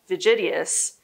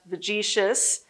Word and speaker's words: Vegetius: in a book by vegitius which is sometimes also pronounced vegetius he's roman and quite frankly i pronounce it both ways so he illustrated a